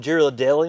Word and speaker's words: Ghirardelli: It's a selection from Italy, from Ghirardelli Nursery. Kind of like pronounced the same way as like Ghirardelli chocolate, but completely different people.